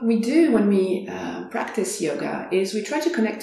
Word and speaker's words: yoga: to yourself the word yoga so when you go to in india you actually hear people talking and it's actually pronounced yog and yog has the